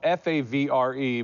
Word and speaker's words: Favre: Your last name's spelled F-A-V-R-E, but it's Favre.